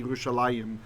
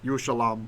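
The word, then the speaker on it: ירושלים: In the places where Jerusalem is spelled without the yod, they add the chirik to remind us it should be Yerushalayim, not Yerushalam or something.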